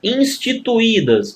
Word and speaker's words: instituídas: Ó, instituídas, moçada, olha aqui a divisão silábica, ó. Instituídas, né? Você não pode pronunciar isso aqui, ó, instituídas, não, instituídas. Olha o hiato aqui, o i mais uma vez formando hiato.